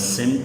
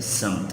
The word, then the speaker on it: سمت: میں بھی بتایا تھا، یہ لفظ سمت نہیں ہے، لفظ ہے سمت۔ اس کا درست تلفظ سین کے زبر کے ساتھ ہے۔ سمت طرف یا جانب